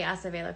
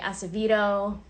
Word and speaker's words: Acevedo: a headliner Jason Acevedo I like to say Acevedo cuz I think that's how you that's truly how you pronounce it some of you might say Acevedo whatever the